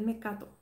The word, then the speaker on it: mecato: Me cato. Esto todo, lo que yo estoy comiendo aquí, es mecato.